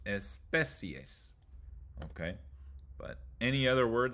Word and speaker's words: especie: If the word ends in an ia, io, or ie, you emphasize the third to last syllable like this. Distancia. Principio. Especie.